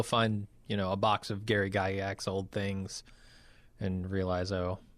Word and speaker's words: Gygax: And if you don't do that, then you have to posit that like Tolkien and Gary how do you pronounce the Gygax?